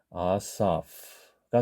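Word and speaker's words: אָסָף: 문자가 바로 해가 되겠습니다 히브리어 방식으로 발음을 하게 되면 아싸이 마지막에 하는 발음이 있죠 아싸가 됩니다 지금 여기 모음으로 끝나는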